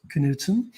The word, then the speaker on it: Knudson: please reach out to to and it's pronounced Knutson if right when I first when I first